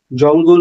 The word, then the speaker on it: জঙ্গল: জঙ্গল, সেখানেও গয়ের উচ্চারণ হয়, উময় গয়ে হবে।